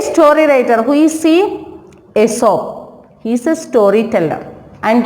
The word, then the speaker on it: Aesop: Actually, A-E-S-O-P, Aesop. We are not pronouncing that Aesop. We will pronounce that Aesop. E-E-S-O-P, Aesop.